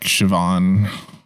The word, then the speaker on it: Siobhan: of those weird names it's pronounced completely different from how it looks like in mulhead like siobhan oh yeah i'm sorry that's just not correct isn't it sayabham this is what i